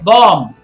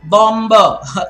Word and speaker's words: bomb: by your hair okay bomb it's not bomba is it like that